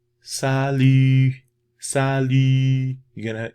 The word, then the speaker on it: salut: Okay, you have the sa and lu. Now that Y, phonetics, okay, it's not pronounced like the letter Y in English, right? The phonetic system is the E sound. Now, we did the sounds of French already, so you already familiar with the sound.